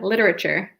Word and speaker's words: literature: not a huge man we pronounce that different actually don't we yeah literature literature literature yeah I think we take out a syllable in British English literature literature but cool